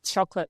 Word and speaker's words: chocolate: So, so what happened is we we took out the O vow. We take out that's like an O vowel. And when you take out a vowel, you take out a syllable. And so now instead of a three-cllable word, you have a twocllable word, which is easier.